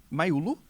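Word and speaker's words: Mayulu: E para fechar, Maulu, é a pronúncia. Maulu fecha o 5 a 0, fecha o caixão para cima da Inter.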